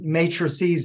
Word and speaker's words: matrices: We call those matrices, or matrices is the correct pronunciation.